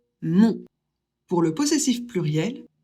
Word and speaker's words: mon: O et N, ça fait on. Donc, on prononce le possessif masculin de je, mon.